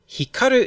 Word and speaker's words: Hikaru: Hikaru is a Japanese name, but we'll still give it stress in English. I'll put it on ka, because that's the usual English pattern.